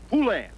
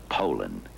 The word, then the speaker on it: Poulan: And for over 30 years, they've been mispronouncing our name. Poulan. Poo. So we'd like to remind you that our name is Poland.